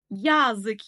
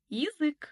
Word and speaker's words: язык: Ал егер я әрпіне ударение түспесе, онда и деп дыбыстаймыз. Яғни, язык емес, язык.